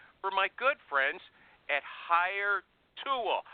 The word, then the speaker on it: Hiretual: I'd like you to expand on that after I do this ad for my good friends at HireTool. I say HireTool, they say HireTual.